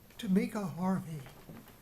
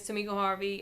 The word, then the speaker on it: Tamika Harvey: Tamika Harvey. Good evening. Did I pronounce your name correctly? Yes, you did. Thank you. Pronounced it correctly. My name is Tamika Harvey.